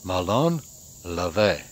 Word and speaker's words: ΜΟΛΩΝ ΛΑΒΕ: for Malone levae and finally learned how to pronounce it it has taken me forever and I screwed it up on my first three videos so finally video number four on this series its Malone Ave and this would be